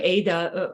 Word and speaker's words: Ada: in Sonoma so and I didn't know you pronounced her name Ada I am from another country obviously uh uh de Limon guess what used to be a St my student in the Chrome yoga studio oh small world and maybe Liam is pronouncing her name is otta that's what I would say uh in my language but hey it's all